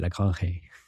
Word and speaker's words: Lagrange: Par contre, c'est Lagrange, faut le prononcer l'espagnol.